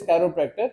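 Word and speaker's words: chiropractor: बहुत से लोग वाकिफ नहीं, इवन के लोग इसको सही प्रोनाउंस भी नहीं करते। The word is कैरोप्रैक्टर।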